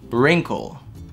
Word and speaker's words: wrinkle: Так же, как и в слове морщина или, когда у вас помятая одежда, wrinkle. Wrinkle, это просто wrinkle. Но, опять-таки, вам здесь напоминают про артикуляцию и произношение.